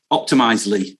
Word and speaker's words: Optimizely: I can never pronounce that quite right. Optimizely.